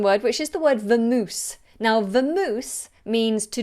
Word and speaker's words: vamoose: this word come from the Spanish word vamos which means to go let's go vamos but we've adopted it and slightly change the pronunciation and the spelling to vamoose so if I say